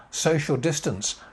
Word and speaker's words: social distance: Social distance. Social distance. 4 syllables again. Social distance. So, the main stress there, social distance.